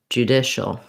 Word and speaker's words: judicial: So the stressed syllable in judicial sounds like the word dish. The I vowel and the letter C there says the sh sound. So you can start dish, dishal, judicial. That'll help you get the right rhythm and the right vowel sounds.